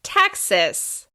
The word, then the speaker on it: Texas: This state is stressed on the first syllable. Texas.